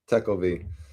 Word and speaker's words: Tekulve: Tekelv.